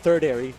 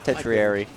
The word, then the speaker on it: tertiary: Techei's not going to lose to the third airy, not even a secondary, a third airy. Tertiary, as it's pronounced.